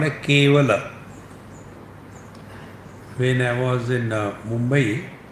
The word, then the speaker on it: Kevala: The word is Kevala. The talks used to come on cable network. So my friend from Bengal, they used to call me Swami. Va is pronounced as ba in Bengali.